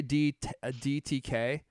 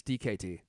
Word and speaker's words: DKT: Yeah, I used to say DTK, but it's DKT.